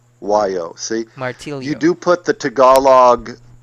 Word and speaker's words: martillo: pronounce like for example my last name in in Spanish is martio and in in you say the same thing in Tagalog but I think it's martillo or something like that martillo martio yeah martio that's what it is and that's not the way you pronounce it in Spanish it's martio in Spanish